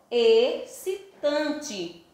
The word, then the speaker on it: excitante: E-X-C-I-T-A-N-T-E. Mas pronunciamos excitante.